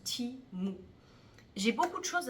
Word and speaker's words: Temu: question du site Timo alors c'est écrit tému nous on aurait tendance à le prononcer témoin mais ça se prononce Timo j'ai beaucoup de choses